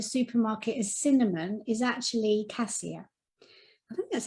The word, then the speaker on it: cassia: 75 p and the oils in there are cassia which is the oil of self-assurance clove the